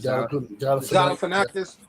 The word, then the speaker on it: Galifianakis: Galifianakis.